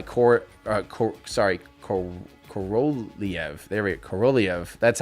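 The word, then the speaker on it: Korolev: uh cor uh co sorry co corolliev there corolliev that's how you're supposed to pronounce it i'm still trying to learn before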